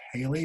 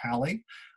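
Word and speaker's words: Halley: human history is probably comet haley or halle i've heard it pronounced both ways by people i respect and know so either way is good i'm going to post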